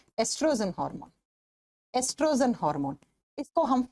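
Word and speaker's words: oestrogen: नाम होता है एस्ट्रोजन स्पेलिंग लिखा जाता है ओ से लेकिन प्रोनाउंस करते हैं तो ई से करते हैं एस्ट्रोजन हार्मोन एस्ट्रोजन हार्मोन इसको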